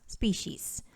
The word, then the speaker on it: species: And that is that the word species, whether singular or plural, is pronounced as species. So tandaan at ating ipatanda sa mga di nakakaalam na kahit ilang species pa yan, may S pa rin sa dulo.